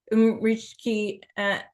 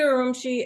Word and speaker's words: Urumqi: The most expensive thing was flying from Beijing to Umrishki. I'm saying it wrong. And that was Kashgar or Urumqi. We flew to Urumqi and then we went to Kashgar from there.